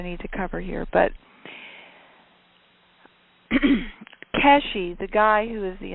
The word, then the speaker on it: Keshe: to cover here but Keshi the guy who is the inventor I don't think I'm pronouncing it right. I think you pronounce a kesh, but it's it's spelled ke e if you want to google it.